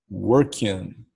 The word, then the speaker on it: working: aplicação no presente contínuo, nós não podemos pronunciar a letra G. Então nós não falamos working, não. Termina com a letra N, a pronúncia é com a letra N. Working, é assim que se fala.